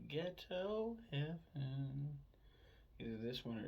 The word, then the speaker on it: Geto: It's spelled Geto, but pronounced as ghetto.